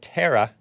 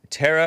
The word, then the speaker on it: Tara: Technically it is Tara, but I got a little tease when I was in elementary school, so I kind of changed it to Tara.